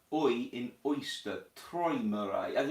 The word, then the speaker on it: Träumerei: By the way, the AU in Traumerei is spoken like Oi in oyster, Träumerei, and it's actually quite correct, you are right, Träumerei.